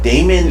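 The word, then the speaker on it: Daemon X Machina: talk about that but Damon ex machina yeah yeah that would be a demon ex machina because in Greek I believe you the AE is still pronounced as e so even ex machina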